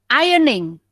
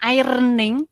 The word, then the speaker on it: ironing: board kambing dengarkan dengarkan itu tulisannya ada airnya tapi airnya enggak dibaca ya jadi bacanya Ayuning bukan air Ning enggak Ayuning Nyonya nggak